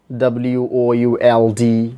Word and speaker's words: would: telling again in the strong form the word w-o-u-l-d will be pronounced would and in the week from words